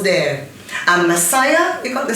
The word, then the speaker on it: Massiah: You know, 3 syllables there. And Massiah, you got the 6.